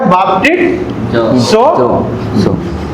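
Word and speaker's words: βαπτίζω: ये एक वर्ब है, क्रिया है, और इसका प्रोनाउंसिएशन ऐसा आता है बाप्टिसो।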